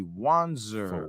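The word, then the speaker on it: Wanzer: to be at Anthony wanser on all platforms you got spell it form Pam that's Anthony w-a-n-z-e-r on Instagram spell like it sounds Facebook you know what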